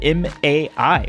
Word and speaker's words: Mai: not be pronounced as mei it's spelled m-a-i which is supposed to be my and people always you